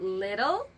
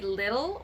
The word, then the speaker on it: little: So little, less, least. Okay, pronunciation tip. We can say little or little. It's up to you. But the standard American way of pronouncing it would be little.